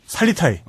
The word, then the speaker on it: 살리타이: 살리타이. 한자로 살레탑이라고 쓰는데요. 그 몽골 발음은 살리타이죠.